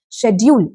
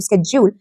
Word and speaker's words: schedule: So you can choose either ways of pronouncing it. Schedule is the British and Indian way of pronouncing this word, and when it comes to schedule, it is the American way of pronouncing this word, right?